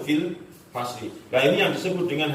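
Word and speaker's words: في الفصل: Bukan fi al fasli, bukan, tapi bacanya kan langsung fil fasli.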